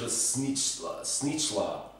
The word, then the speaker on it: šnicla: in a video before a snit that's how they say it in Serbian we would call it